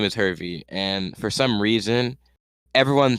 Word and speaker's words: Hervey: time, like, oh, William Harvey, and I'm like, how is my name Harvey? Like it's spelled Hervey, not Harvey.